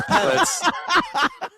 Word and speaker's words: padel: It's pedal. Come on. It's pronounced pedal ball. Yeah, it's padel.